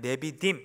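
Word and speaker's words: נְדִיבִים: 앞부분에 나오는 귀인들 어 히브리 발 표현으로 하면 네비림 이렇게 발음을 하는데 무슨 뜻이냐 부자와 부유한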